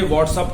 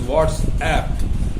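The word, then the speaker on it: WhatsApp: तो ये व्हाट्सअप नहीं है, this is व्हाट्सएप, because this is an application.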